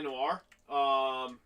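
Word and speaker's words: L.A. Noire: Something about LA Noire.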